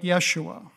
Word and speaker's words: Yeshua: would affect the pronunciation Hebrew would be something like Yeshua Aramaic issue something like that but what about the poor Greek speaking disciples who didn't have the SH sound they said isus but that was the form